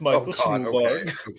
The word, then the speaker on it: Stuhlbarg: Well, no, man, I tried to say it like the schoolbread guy, Tiki. It's Michael Stuhlbarg.